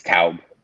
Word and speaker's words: Taub: It's Taub. Taub, there you go. That's the German the pronunciation.